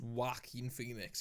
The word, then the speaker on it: Joaquin Phoenix: Well, the thing is, even though it's pronounced Joaquin Phoenix, if you look at the way it's spelt, it looks like in some weird way it could be Joker.